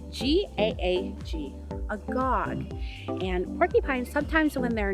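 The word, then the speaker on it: gaag: at them together so a porcupine is a gog g-a-a-g a gog and porcupines sometimes when they're nervous or they're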